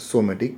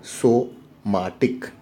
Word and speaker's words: somatic: So it is not somatic, it is, we should pronounce it as somatic.